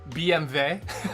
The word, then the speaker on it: BMW: I like pronouncing German words that's still very German. Just to throw uh like B uh B uh BMV BMV. That's the one I really like.